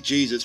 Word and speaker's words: Jesus: Rock Me Sexy Jesus from the Hamlet 2 soundtrack can be heard playing from SCP-029-J3. McIntyre approaches the car. Hi, Jesus? Pronounced as the Hispanic form.